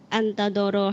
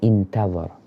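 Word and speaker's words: انتظر: laqiya fi hal adu antadoro hatta idza malat, bacanya intadhar.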